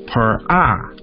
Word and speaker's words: pharaoh: actually isn't a name in egyptian it is pronounced by the egyptian symbols per eye and means great house so in building his